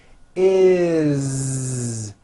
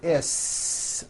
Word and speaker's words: is: When you add an S ending, this time we always add the ending is with a voiced Z. Is. It doesn't matter that it's spelled with an S. It's never is, unvoiced, never.